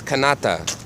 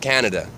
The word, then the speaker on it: Canada: for far too long it's canata not Canada canata we've been it's it's